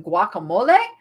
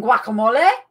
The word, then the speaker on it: guacamole: got bunnies and stuff you don't pronounce the g in guacamole i pronounce the g in guacamole don't get me thinking